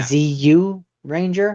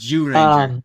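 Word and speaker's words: Zyuranger: ZU Ranger? It's pronounced Jew Ranger. Like Jew Ranger? Yeah, like Jew, like dreidel.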